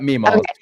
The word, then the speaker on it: Mema: Did I say that right? Is it Mima? Yep. Mima. Yep. Oh, Mima. Okay. That's what I thought. That's what I thought, but I didn't want to say it wrong.